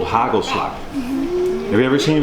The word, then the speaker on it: hagelslag: thinks he just came from Germany, but no, it's hagelslag. So a little more. Ooh. That's good, eh? Too big a bite. So you have to pronounce it as hagelslag, and then it's back in the throat.